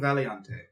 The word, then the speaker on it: Valiante: The kingdom of Valiante. Is that how it's pronounced?